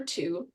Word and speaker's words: two: or shifted um but as far as the silent W I think that's much